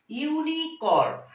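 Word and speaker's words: unicorn: ইউনিকর্ন, শস্য, ইউনিকর্ন। এখন your উচ্চারণটা আমি এখানে আ বলিনি, ইউর উচ্চারণটা আমি ইউর মতো বলেছি, সেই জন্য এখানে আমি এখানে বসাবো এ।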